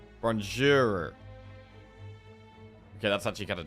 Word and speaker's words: Bonjour: Pronounce the R at the end distinctly. Bonjour. Bonjour.